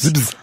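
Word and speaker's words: Zibbz: C'est donc Stones du groupe Zibz. C'est bien comme ça qu'on prononce. Zibz.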